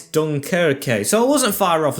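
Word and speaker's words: Dunkirk: I don't know how it's pronounced. It's Dunkerque.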